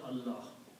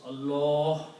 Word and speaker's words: Allah: If the letter before lam has a fatah, then you have to pronounce Allah with heavy mouth, full mouth. Like in the azan, you have Allah, like your mouth is full. Okay? But if there is a kasra, then you pronounce lam softly. Okay? Kitabillah, billah. Okay? Fatah, heavy sound. Kasra, soft sound.